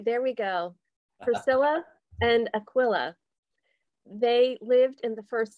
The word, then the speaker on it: Aquila: is the feast of priscilla and ekla pardon my pronunciation they are aquila aquila see i'm already there we go priscilla and aquila they lived in the